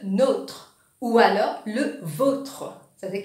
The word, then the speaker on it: nôtre: Alors, quand on a un accent circonflexe, le O, oui, ce prononciation sans E. Je vais donner un exemple. Nous disons notre. Exemple, notre chien s'appelle Milou, notre. Mais quand vous pouvez accent circonflexe, le O, il vient le nôtre ou alors le vôtre.